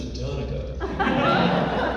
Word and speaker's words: Danica: He pronounced my first name the way that you do when you live inside the Beltway, which is Danica.